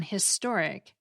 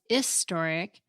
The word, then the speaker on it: historic: But there's no logical reason it should be an historic if you pronounce the H in historic, which most people do. I can see how if you pronounce historic as historic, which I think people